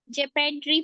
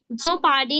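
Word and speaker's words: jeopardy: मतलब होता है खतरा ओ जो होता है ओ का साउंड साइलेंट हो जाता है ओ का साउंड आपको कहीं मिल रहा है प्यूपल नहीं बोल रहे हैं हम उसको झोपडी नहीं बोल रहे हैं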